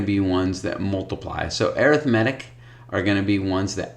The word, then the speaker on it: arithmetic: arithmetic by the way this is arithmetic it's not arithmetic they're spelled the same but they're pronounced differently when we perform arithmetic we add subtract multiply and divide when we look at sequences they're arithmetic sequences too we have geometric sequences